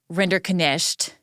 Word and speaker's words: Rinderknecht: All right, so let's start with Jonathan Rinderknecht, and I'll say we believe that's how to pronounce his last name, given what he said in court.